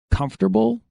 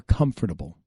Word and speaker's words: comfortable: comfort what are you are you comfortable or comfortable comfortable comfortable comfortable where do you